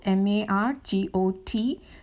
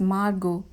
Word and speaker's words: Margot: the story is margot m-a-r-g-o-t t is silent the name has to be pronounced as margot margot and other children